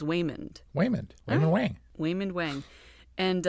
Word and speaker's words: Waymond: Okay, so it's not Raymond being butchered by an Asian accent. It's his name is Waymond.